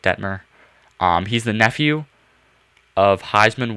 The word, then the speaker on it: Detmer: It's Coy Dietmar. I think that's how you say it, Detmer.